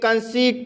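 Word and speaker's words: conceit: जैसे कंसीट, कंसीट शब्द में ई आई आया है, इसलिए ई आई का उच्चारण ई होगा, इसलिए इसे कंसीट पढ़ा जाता है।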